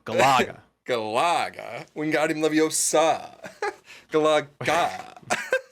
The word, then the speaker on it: Galaga: The inflection is on the la. Galaga. Galaga. Wingardium Leviosa. Galaga. It's Galaga.